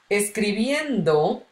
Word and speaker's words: escribiendo: Okay, so when I say escribiendo, endo will be where I would normally put my accent mark because it's the strongest syllable in the sentence, okay?